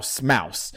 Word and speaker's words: Maus: I believe it's Mouse. It's spelled MAUS, but I was wrong. I think it is mouse.